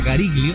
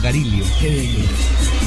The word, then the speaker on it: Gariglio: Es porque en italiano la G y la L se pronuncia solo la L. Entonces no se dice Gariglio, sino Garilio.